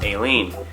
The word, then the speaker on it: Alien: This is Aileen. It's spelled the same as alien, but his name's Aileen.